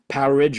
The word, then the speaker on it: Powerage: I've always called it Power Age, okay? But I saw the Thunder Mother guitarist saying it's actually should be pronounced Powerage, like an outage, you know?